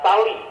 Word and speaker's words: Sally: Nah, kemudian anaknya Pak Kang, namanya adalah Sali, ejaannya SALLY.